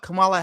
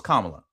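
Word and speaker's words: Kamala: Nobody can still to this day explain what Camala Harris act um Camala I'm hopefully I'm saying it right. Kamla. No. No. It's Kamla.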